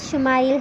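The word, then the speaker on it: ישמעאל: خوشخبری سنا دی گئی۔ عبرانی زبان میں اسماعیل کا تلفظ شمائل ہے۔ شما کے معنی ہے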